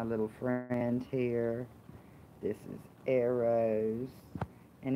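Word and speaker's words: Eros: y'all to my little friends here this is arrows and it's spelled E or OS which means love and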